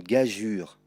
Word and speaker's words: gageure: L'orangeade, un pigeon, une gageure, que tu pourras voir aussi écrit comme cela. Mais dans les deux cas, il faut dire une gageure.